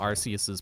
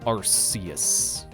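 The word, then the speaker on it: Arceus: So, I prefer to go with Arus. It's It definitely sounds a bit more like a god name pronounced like that. Archus just sounds like it could be part of Archops's line.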